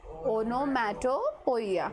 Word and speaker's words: onomatopoeia: Onomatopoeia. Pronunciation is onomatopoeia.